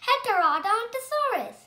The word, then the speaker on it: Heterodontosaurus: I'm going to tell you how to pronounce it. Heterodontosaurus. Heterodontosaurus.